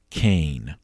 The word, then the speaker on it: Keane: So Gibbons maneuvered another protege into that position, John Kane. It's spelled Keane, K-E-A-N-E. At the time, he was stationed at St.